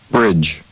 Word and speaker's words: bridge: 그런 부분에 유의하면서 이 단어들의 원어민 발음을 들어보도록 하겠습니다. golf, golf. 2, friend, friend. shoes, shoes, cash, cash, strike, strike, bridge, bridge, hand, hand, 네, 골프가 아니라 golf죠.